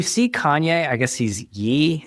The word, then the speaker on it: Ye: I guess he's Yee. Is it Yee or Ye I mispronounce everything. Um, um, uh, it should be yay though.